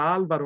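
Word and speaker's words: Álvaro: panza duca e duchessa albaro che si pronuncia alvaro anche in italiano per motivi metrici altissi dora e donna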